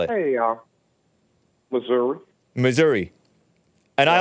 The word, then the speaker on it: Missouri: Hey, Missouri. Missouri. And I like your Like- pronunciation. That's a sophisticated pronunciation. It's cool. Okay, well, some people say misery.